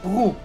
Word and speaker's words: roux: Un espesante que se llama roux, que se pronuncia roux en francés.